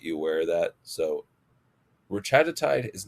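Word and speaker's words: retatrutide: I like to call it retagiti because I like to keep them all with the same kind of pronunciation um method of emphasis um on syllables.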